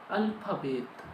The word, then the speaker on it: Alphabet: do alphabet means alphabet alphabet is similar but the pronunciation is different in English we said alphabet but in German we said alphabet alphabet alphabet so thus